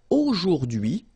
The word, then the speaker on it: aujourd'hui: it like that, but take the time to, well, divide it. So the first one, A-U-O, jour, and then dui, okay? H is not pronounced, so you only get this dui thing. Aujourd'hui, aujourd'hui, and it means today, okay?